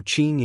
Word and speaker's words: Qing: Also Q is pronounced like sich, so Qing and Yiqing Han is Qing.